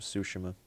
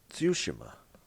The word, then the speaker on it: Tsushima: time or ghosts of sushima ghost of see ghosts of tsushima all right something like that Japanese pronunciation on it you got to pronounce the T I don't think ghost